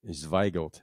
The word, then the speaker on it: Zweigelt: And Gelt meaning like Yiddish for money. Like guilt.